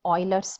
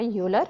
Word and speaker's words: Euler: APBC Calculus students, this is the second part of the video about Euler's method. Remember, you must pronounce the name correctly, not a Euler, but the Euler.